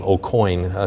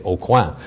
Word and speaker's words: Aucoin: And by the way, many of you may know the name Aucoin, because I think it's a common name in Spencer, but when I'm in international circles, I say Aucoin, which is the right way to pronounce it in French.